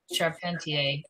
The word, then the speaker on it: Charpentier: So I did send the head of the English department up there, Dean Charpentier, that's how he pronounces it, invitation letter with two posters attached that have all the information.